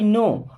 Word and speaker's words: know: के लिए okay I नो अब देखिए के एन ओ डब्लू इसे हम नो पढ़ते हैं यहां पे के साइलेंट होता है ठीक है ना आई